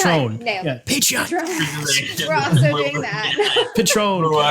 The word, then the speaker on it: Patreon: We are thinking about Patreon. We're working on. I can't say it. Someone else pronounce it. I'm too stupid. You I did call it it right. Patron.